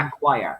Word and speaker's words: acquire: yeah okay you see forget the letter c in that word we're going to pronounce the quote at choir okay choir yeah that letter c is going to confuse you because you're going to